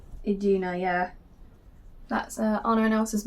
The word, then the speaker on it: Iduna: top list car in mother iduna that you pronounce her name aduna iduna yeah that's Anor and Elsa's mom again sticking